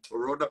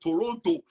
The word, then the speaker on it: Toronto: me said what I said Toronto he said no it's Toronto I said I know but they pronounce it that way but Dr I really